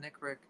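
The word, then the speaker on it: NCRIC: california regional intelligence center the nick rick that's that's how it's pronounced uh sent out daily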